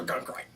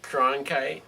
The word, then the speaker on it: Cronkite: Walter Guncrite. Or how do you say his last name? I don't know. Guncrite. I don't know. Guncrite. Cronkite.